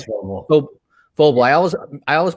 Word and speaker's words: Vobile: It's Vobile. Vobile. I always pronounce this in different ways.